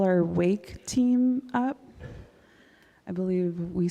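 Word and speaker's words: WAYK: So I say wake but other people say um they pronounce it differently but anyway um so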